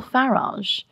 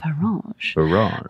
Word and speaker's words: Farage: Now, what's Nigel Farage doing? And I love the soft G that I've added to that. Yeah. Farage.